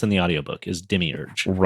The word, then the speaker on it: demiurge: But okay, most of the pronunciation that I've read everywhere says demiurge like I'm saying like yeah I that is how it's pronounced in the audio book is demiurge right?